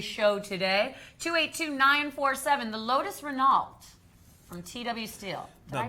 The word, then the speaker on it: Renault: 282-947, the Lotus Renault from TW Steel. Did I pronounce that right? Renault. Renault, that was embarrassing.